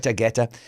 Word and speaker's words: Guetta: Guetta.